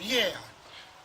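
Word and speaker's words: liair: Alors maintenant, le langage des fourmis est appelé le lierre. Bon, c'est pas la plante, bien entendu, ça s'écrit L-I-A-I-R.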